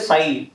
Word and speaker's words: psi: और जो इसे बोलते हैं स psi इसमें p जो है वो साइलेंट रहता है। इसलिए बोलते हैं स तो ये होता है amplitude of a electron wave और वेव फंक्शन।